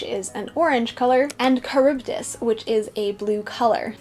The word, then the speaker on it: Charybdis: to pronounce odysseus odysseus how to pronounce char char sharp dis charybdis kryptus so i was saying all of them wrong nice good thing i